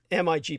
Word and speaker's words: MiG: they left all these mig planes they call them migs of course they don't pronounce the full acronym uh they removed what